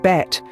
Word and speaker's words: Bett: bad means bath and bet means bed the only difference between these two words is the vowel sound the former has a short a sound while the latter has a short e sound another example would be